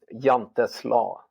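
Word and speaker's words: Jante's Law: Jantes Law.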